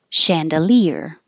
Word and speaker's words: chandelier: Chandelier. Looks like CH, sounds like SH because it's from French.